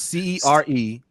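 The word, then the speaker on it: Cere Junda: Seer Junda. It's Cerejunda. Yeah, I spelled it right. I just didn't know how to pronounce it. So Seer Junda, Sonic the Hedgehog, the Black Ranger, the Mandalorian, Kick-Ass, Kratos, Mario.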